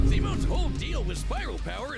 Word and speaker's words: Simon: Labyrinth required Simone to leapfrog several orders of infinity. Here's my thing about it, though. Like, Simone made him. Like, Simon, chat, that's how you pronounce it correctly, Simon.